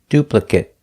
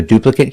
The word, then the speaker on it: duplicate: verb that's the key if it's not a verb pronounce it it if it is a verb pronounce it eight so duplicate is a